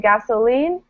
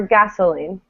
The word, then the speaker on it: gasoline: forte right and then here you can either say gasoline or gasoline gasoline you can say either so so i think i tend to stress i would say gasoline stressing the last syllable gasoline but people all the time say gasoline so both are fine okay but what's not